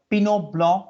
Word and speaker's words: Pinot Blanc: And there is a Pinot Blanc. Once again, the T is not pronounced here.